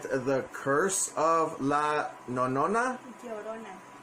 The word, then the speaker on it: Llorona: to help me out by giving a little pronunciation to it. So, honey, is it The Curse of La Nonona? Llorona. Yomona? Llorona. Yosona? Yo. Yo. Ro. Na. Na. Llorona. La Nona. Llorona.